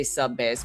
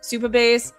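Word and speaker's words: Supabase: I always want to say subbase, but Superbase.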